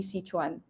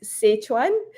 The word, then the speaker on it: Sichuan: pr pronounce it as sichuan and and and I think it's actually well it depends if you're pronouncing in Cantonese or you're pronouncing it in Mandarin.